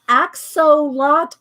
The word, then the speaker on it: axolotl: Thank You Julie topaz axe so lot oh let me write it down again and it's a X but it's pronounced ax so what L yeah this is what